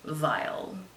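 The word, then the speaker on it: Weil: Actually, Gustav Vile. And that's Vile spelled with a W. So when you go looking it up, don't come at me for saying it wrong. It's really pronounced that way.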